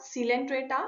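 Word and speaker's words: Coelenterata: के first step Porifera सीलेंंट्रेटा silent त्राता को need area भी बोलते हैं सी साइलेंट होता है यहां पे तीनों फेरापोरा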